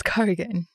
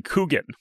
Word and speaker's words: Kogan: to say it but it's kogan i say it wrong every time i keep saying coogan kogan kogan kogan and